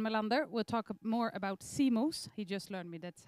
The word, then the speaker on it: CMOS: the speaker iwan malander will talk more about CMOS he just learned me that's how you pronounce it image sensors sensors which is a